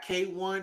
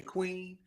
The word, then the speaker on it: KWN: Uh, Do What I Say by K1. Even though it's spelled KWN and I want to say Queen, that's not how you say it.